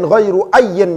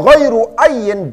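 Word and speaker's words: غيرُ أيٍّ: Wa fi dzal hadfi ayyan ghairu ayyan yaqtafi. Bacanya wa ghairu ayyin, dan bermula, wa ghairu ayyin, dan bermula isim mausul selain ayyin.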